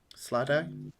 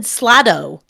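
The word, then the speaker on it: slaad: a creature called H SL SL day slay nope no spelling I'm not writing I just want to understand so I can pronounce it correctly yeah couldn't hear we can't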